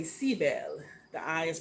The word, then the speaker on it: Sibyl: our uh sibl and I'm going to say seab bells okay if we want to pronounce it in the old new world language um and I'm just